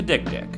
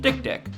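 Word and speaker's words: dik-dik: another word for human genitalia that is the dick dick yep it's actually pronounced that way no wikipedia it's not pronounced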